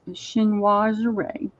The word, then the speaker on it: chinoiserie: J9 spelled that for me so I could pronounce it a little bit more. It still doesn't have that French ring to it, but it's chinoiserie.